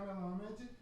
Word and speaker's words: Melamed: Michel Melamed.